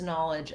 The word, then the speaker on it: knowledge: i know something but in the words knowledge and knowledgeable it has the ah vowel instead so i'm going to rewrite that with an a h so you can think about that ah open vowel don't allow any rounding to happen an accent air pattern that may happen for this it'll sound more like oh or ah and in american english we say that with an open ah vowel just like the word